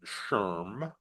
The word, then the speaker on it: SHRM: acronym A SHRM and we pronounce it Sherm right so this way